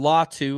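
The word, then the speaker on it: Latu: Salt Lake City um Cameron law two is how it's pronounced he was the number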